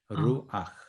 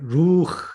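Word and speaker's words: רוּחַ: 루아흐. 루아. 자, 여기서 이건 앞의 원칙과 연결되어 있습니다. 이 후음은 그 앞에 아음을 갖는 경향이 있다. 아음을 갖는 경향이 있죠. 근데 지난 시간에 어떤 얘기냐면 루흐 이렇게 발음해 보라고 그랬습니다.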